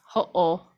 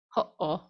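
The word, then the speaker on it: hoʻo: And it's pronounced in that same way. It's a glottal stop. So it's ho'o, ho'olalea, ho'o. It's that little stop in between.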